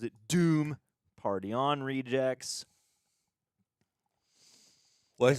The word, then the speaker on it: Victor von Doom: time well no but if the original spelling is that dohm then it would be more like dom this is a fascinating